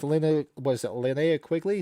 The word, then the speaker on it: Linnea Quigley: It's got one of the best nude dancing scenes with Linnea Quigley?